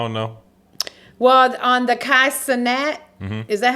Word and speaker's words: Kai Cenat: Well, on the Kai Cenat, is that how you say his name? Yeah, Kai Cenat, yeah.